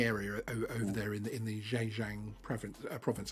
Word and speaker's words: Zhejiang: over there in the Zhejiang province, I think is how you pronounce it. Yes, well said. That was very well pronounced.